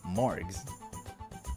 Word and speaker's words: Morgs: from now on I'm going to call you morgs Mo morgs and with a hard G not a soft one so there's no confusion